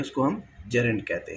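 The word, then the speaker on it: gerund: जेरेंट बोलते हैं actual में, सब बोलते हैं गेरेंट, लेकिन जेरेंट होता है ये, ठीक है। सबसे पहले आपको प्रोनाउंसिएशन आनी चाहिए, इसको जेरेंट कहा जाता है।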